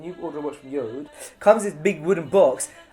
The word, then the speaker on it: Jord: Do I pronounce it? That's how you pronounce it. Yode.